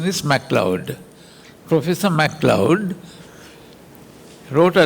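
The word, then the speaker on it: Macleod: His name is spelled M L E O D MLord. If you spell it out like that, pronounce it like that. But the correct pronunciation is Mloud.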